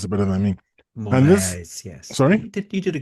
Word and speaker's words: Moraes: I think Tony can probably pronounce it better than me. Moraes, yes. Sorry? You did a good job. Moraes.